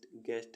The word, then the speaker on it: guest: ऐसे वर्ड्स जिनमें U silent रहता है. GUARD guard means रक्षक. GURANTEE guarantee means guarantee. MOSQUE mosque means मस्जिद. guest means अतिथि.